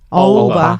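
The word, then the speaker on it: 欧巴: 왜 어떤 건 두 오빠. 글자고 어떤 건 한 글자로 읽어? 그게 원래 중국어는 어우바. 그게 하나의 발음이에요. 어우바.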